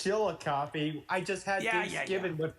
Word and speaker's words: Chillicothe: It's Chillicothe.